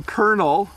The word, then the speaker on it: colonel: So Colonel does not look like kernel, but when you eat corn has you have kernels.